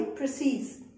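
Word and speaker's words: précis: यहां पर इ के ऊपर आई बना हुआ है। दैट मींस इसको इ प्रोनाउंस नहीं करना। जैसे पेन मैं ऐसे नहीं करना है। इसको प्रोनाउंस करना है प्री ई आई प्रिसीस।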